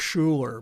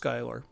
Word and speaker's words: Schuyler: know his name philip schuyler looks like schuler but pronounced skylar he enjoyed going to